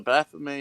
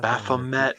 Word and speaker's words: Baphomet: The Baphomet is a representation of man, woman, and beast. Okay. Baphomet, not Baphomet. Oh, Jesus Christ! The freaking Both pronunciations are appropriate.